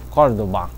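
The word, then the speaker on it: Cordova: É que é meio espanhol, né? O V se pronuncia parecido com B, Cordoba, uma coisa assim, né?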